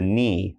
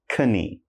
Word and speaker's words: knee: That's the knee. Again, not knee.